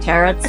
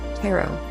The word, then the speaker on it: tarot: like that interesting boom that's not how you say it okay just it's tarot thank you um um